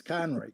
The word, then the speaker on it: Conroy: It's Conroy. They never. It's almost invariably I'm correcting the last part of it.